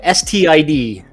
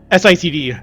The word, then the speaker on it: SITD: got this remix of Magic on there by STID. Am I saying it right? Because I want to say Yes. like STD. SITD, yeah.